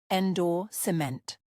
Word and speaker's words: endorsement: For pronunciation, stress the second syllable, endorsement.